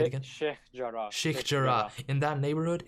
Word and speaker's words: Sheikh Jarrah: I'm terrible at pronunciation. How do you say it again? Sheikh Jarrah.